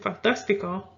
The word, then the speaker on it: fantástico: We have fantástico. That's an I, guys. Fantástico. You will put the accent on that third to the last. And fantástico is a cognate meaning fantastic.